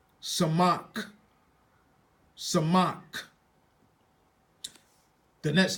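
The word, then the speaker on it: Samekh: is sonic some they say sonic we say Samak Samak Samak the next letter ayan they say ayan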